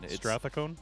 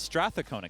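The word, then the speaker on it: Strathcona: in straa cona County I I've been saying it wrong all this weekend straon it's Strath cona County that's what he said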